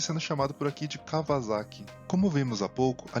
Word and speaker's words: Kawasaki: Portanto, o nome correto da empresa é Kawasaki.